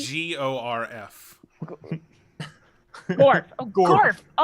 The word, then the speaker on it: Gorf: You spell that G? G-O-R-F.